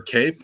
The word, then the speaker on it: Kape: So on to Manel Kape or Cape. How do you say his name? Cop. Manel Cop, yeah.